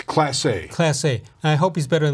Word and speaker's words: Clase: right the back end of the bullpen let's pronounce the Emmanuel's last name of no it's classy classy I hope he's better than a class